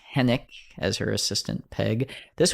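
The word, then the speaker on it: Henwick: The W is silent. Henik as her assistant, Peg.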